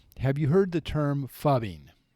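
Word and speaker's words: phubbing: Fubby is spelled ph. Okay. U BB I N G.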